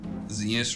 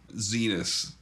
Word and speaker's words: Zenas: Zenas rhymes with penis. That's how I remember it. Zenas. Zenas.